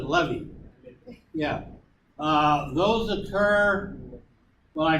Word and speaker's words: levee: me leave no yeah well I I pronounce it levy yeah those occur well